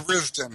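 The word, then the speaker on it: Tharizdun: For instance, the Forgotten Temple of Theristun, or Theristun, I don't know how you pronounce it in English. Yeah, Theristun.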